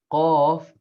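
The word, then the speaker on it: قاف: f off yeah so this off that starts with the q it's not k oh but there's no i mean there is no similar letter in the in english language but the queue would be the closest in terms of spelling for it oh oh like i'm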